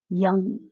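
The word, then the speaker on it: yam: the anahata which is yum but when we produce that sound at the vaikari level the level that can be heard it is pronounced as young with a g so we just chant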